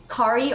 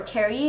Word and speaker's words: Kari: So the first color I'm going to be using from the NARS Spring collection is called Kari, or Kari. It's spelled K-A-R-I.